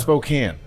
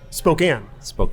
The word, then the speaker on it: Spokane: So I can't pronounce it either way. I'm a Gonzaga guy, like Gonzaga. firearm. Gonzaga, or what about Spokane? Spokane.